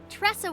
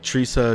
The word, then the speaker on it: Tresa: She says that, but I think I I mispronounce her name like every episode. I'm like, Tesa, Tresa, Ta.